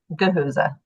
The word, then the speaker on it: Gahuza: Gahuza. And and full disclosure, sorry. How do you spell that?